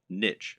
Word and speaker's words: niche: Or to use the correct internet business parlance, what is your niche, or niche as some people pronounce it?